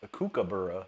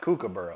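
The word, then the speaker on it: kookaburra: Uh, Evan says pronounced Cuckabura. Not not cook cuck. Oh, cuckabura. Not cucur. Okay, now I know.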